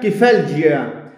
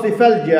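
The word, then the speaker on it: Cephalalgia: المجلة بتاعتهم اسمها كيفالجيا أو سيفالجيا على حسب ما بتتنطق يعني.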